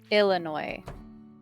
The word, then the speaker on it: Illinois: You Illinois. It's how you say it. Illinois.